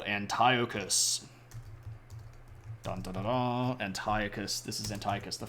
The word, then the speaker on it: Antiochus: way to go um I still remember the guy who pronounced at Antiochus oh no somebody doesn't know their Greek pronunciations yeah it's Antiochus there we go they use